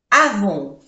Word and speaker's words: avons: Nous avons, O-N-O, avons, no se pronuncia la S.